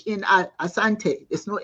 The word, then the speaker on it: Asante: He says, it's not Asante, it's Asante, not Ashante. The English could not pronounce the word properly, so they put the H in Asante to suit themselves.